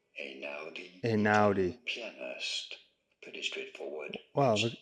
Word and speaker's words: Einaudi: How do you go about pronouncing it? Ludovico Einaudi. Ludovico Einaudi.